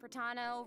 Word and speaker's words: Pratano: Hey everyone, I'm Pratano, rhymes with Capitano, the voice of Child's Master, Skirk.